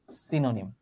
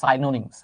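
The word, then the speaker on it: synonyms: সিনোনিম আসলে এটার উচ্চারণ কিন্তু সাইনোনিমস আমরা যদি এক্স্যাক্ট উচ্চারণটা করি সাইনোনিমস তো যাই হোক আমরা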